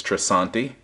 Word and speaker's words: Tresanti: was at costco and if i'm saying it right i believe it's trisanti and it's an adjustable